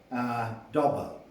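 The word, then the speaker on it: Dauber: the early 20th century, Dobber. It's spelt D-A-U-B-E-R, and you can bring many good prints of it up on the computer, and Dobber is really worth reading.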